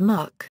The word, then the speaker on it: MUC: meritorious unit Commendation is abbreviated as Mu and pronounced as MK Army the meritorious unit Commendation emblem warn to